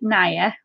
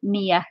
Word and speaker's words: Nia: pronounce my name because I know a lot of people say Naya, and that's how it looks, but it is actually Nia. It's not Naya, it's Nia, as in like near and far.